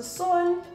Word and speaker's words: son: But because our O is pronounced differently in Afrikaans, it's not sun, that the son. O has like a long sound. So you know how you would say soon? That oo, that is the sound O makes.